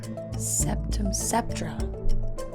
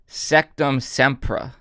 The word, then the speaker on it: Sectumsempra: Septra. Yeah, that's it. Say it again. Septra. Incorrect. Really? It's Sectum Sempra.